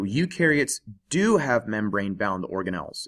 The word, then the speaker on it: eukaryotes: take a look at eukaryotes you rhymes with do so eukaryotes do have membrane bound